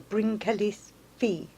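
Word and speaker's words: Bryn Celli Ddu: excuse my Welsh pronunciation but first stop was bring Kelly DAW or bring Kelly's V as it is pronounced this is a chamber tomb and inside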